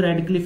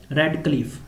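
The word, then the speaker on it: Radcliffe: नाम दिया गया है रेड क्लिफ। ठीक है, तो आपने जैसे याद रख लेना, रेड का वैसे प्रोनाउंसिएशन डिफरेंट है यहाँ पर।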